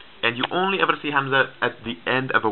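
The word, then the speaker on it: ء: there right this is this is the stop it's what i shut off my throat my vocal cord so this is what hamza does okay now a few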